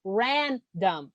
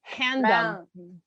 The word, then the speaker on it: random: You just said no, but what you need to as a Brazilian, which is the thing, it's random. Because you're saying handum. Okay, random.